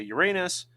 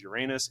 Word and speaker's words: Uranus: Now, everyone giggles every time you say Uranus, but it is an accepted pronunciation. There are two accepted pronunciations, Uranus and Uranus, but I say Uranus because that's the way I was taught to, and I was an